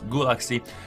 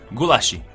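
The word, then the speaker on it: Gulácsi: you know it boys gulaxi gulashi i was told that's that's how he pronounced his name gulashi okay um mukiele and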